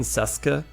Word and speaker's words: Sasuke: Naruto, the guy's written Sasuke, right? Sasuke, right? But actually it's pronounced Sasuke, right? You don't pronounce the U, but you have to know that.